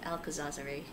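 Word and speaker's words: Alcazarzaray: That is actually how you pronounce the place. The Palace of Alcazarzare.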